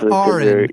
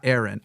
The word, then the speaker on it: Aron: and Erin is there yeah but it is pronounced Arin and I think we had this before so we're gonna just correct this right at the beginning it's Ain not Aaron Ain thank you oh I'm sorry no worries